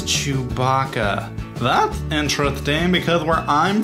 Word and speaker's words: Chewbacca: Chew blah blah? No, his name is Chewbacca.